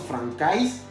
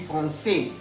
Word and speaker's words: français: Ya habíamos visto hace unos minutos atrás que la AI se pronuncia E. Entonces no diremos francais, vamos a decir français. A saber lo siguiente también, que la S final no se puede pronunciar.